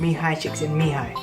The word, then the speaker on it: Mihaly Csikszentmihalyi: The book is called Flow and it's by Professor Mihaly Csikszentmihalyi. And that's how you say his name, Mihaly Csikszentmihalyi.